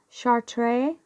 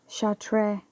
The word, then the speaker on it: Chartres: like short RIS but I think the S is silent in France because it is you know how shall tray so and is an